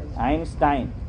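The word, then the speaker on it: Einstein: آئنسٹائن صحیح تلفظ ہے؟ آئنسٹائن ہے.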